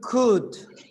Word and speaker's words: could: you could, not cool. Try not to pronounce the L. Could, like would the same.